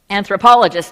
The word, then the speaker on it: anthropologist: Years ago anth- anth- Okay, now how do you say it? Anthropologist, there you go. I kept wanting to put this the syllable accented in the second place.